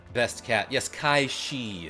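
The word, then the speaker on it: Cait Sith: Kate Sith best cat. Yes, Kaii is how that's supposed to be pronounced apparently.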